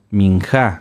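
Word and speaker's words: מנחה: que se llaman minja minja con acento en la a sí las ofrendas de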